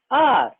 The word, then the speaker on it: hour: Example, an umbrella, an hour. In this example, see the second one, R. The first letter H is silent. It is not pronounced.